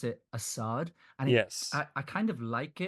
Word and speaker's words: Assad: So it's not Assad. It's supposed to be Assad. Assad, like Assad. Like more like an A instead of Oz, it's like as Assad, evidently.